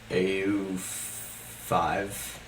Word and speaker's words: Au5: his name but how how do you pronounce al5 Au five au5 okay au5 so I was listening